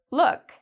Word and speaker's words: look: Sometimes, like in Luke, it's a long vowel sound, whereas in this word, look, it's a short vowel sound.